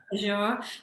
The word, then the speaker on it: Azure: some of the tools, which I pronounced wrong, Nick. So it's actually Azure.